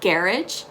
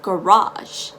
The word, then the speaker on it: garage: for the word garage remember it's not garage it's not garage it's garage the g is very soft it's very gentle and um the emphasis is on the go ga raj garage garage all right so for